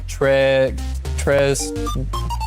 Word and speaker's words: très: Here the S is silent as well. We don't pronounce it. It's just très.